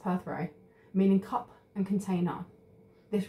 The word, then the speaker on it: Perthro: Oh, it's actually pronounced Perthrope, meaning cup and container.